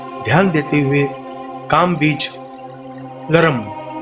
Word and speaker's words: लृं: हुए काम बीज लरम, इस बीज मंत्र को अगर धीमी गति से आप कहेंगे तो इसका उच्चारण होता है लरम, और अगर जब तेज गति से बोलना है तो इसका उच्चारण हो जाता है लरम।